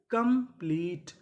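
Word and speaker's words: complete: TE इसे क्या पढ़ेंगे? टा, क्योंकि आखिरी में ई है, हमें ई का उच्चारण नहीं करना। तो मीनिंग क्या बनी? कंप्लीट।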